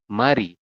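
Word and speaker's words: 말이: R yang bawah ini dia akan naik ke atas menggantikan I dan ya dia akan berubah bunyi menjadi bunyi awal yang tadinya kan dibaca l di bawah ini karena dia naik maka dibacanya menjadi R ya maka kita Bacanya adalah Mari seperti ini sampai sini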